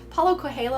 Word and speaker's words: Paulo Coelho: It's a very alchemist by Paulo Coelho.